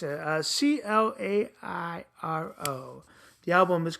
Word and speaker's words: Clairo: Claro. Am I saying it right? Charm. It's a Clairo.